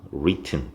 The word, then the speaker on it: written: 그리고 TEN 해서 T를 두 개 만들어서 만약에 여기 T가 하나만 있게 된다면 원어민 보고 이걸 한번 읽어봐 줄래? 하면 writen이라고 읽어요. 그럼 우리가 원하는 단어가 아니죠. 그래서 이 발음이 우리가 원하는 식으로 이 I가 이 발음 나려면 written, T가 두 개가 돼서 이렇게 꽉 막아줘야 written이라고 발음이 됩니다.